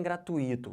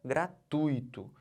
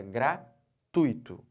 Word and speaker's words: gratuito: bom então não falem gratuito O certo é gratuito eu tô fazendo o que eu tô botando toda essa sílaba aqui ó tui como sílaba tônica eu não posso separar